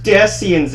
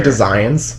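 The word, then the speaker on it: Desians: colette's going because there's destians outside yeah actually they're actually designs design is the uh how it's pronounced so and uh david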